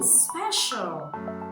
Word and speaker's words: special: So letter C makes the sound sh in special.